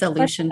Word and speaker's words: Aleutian: It's Aleutian okay. Pribilof Islands Association. Yeah, the Aleutian Pribilof Islands is out in the Bering Sea.